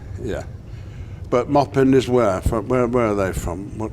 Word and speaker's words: Maupin: imagine arm said that lots of British people say mopan because they we see the spelling and we think the French they yes that's right yeah but mopin is where from where